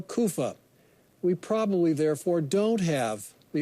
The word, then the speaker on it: Caiaphas: However, that last name probably shouldn't be pronounced Caiapha. It's probably Kopha or Kufa.